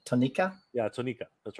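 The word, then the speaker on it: Tonnika: You pronounce that even funny. Tonica? You said Tonica? Yeah, Tonica.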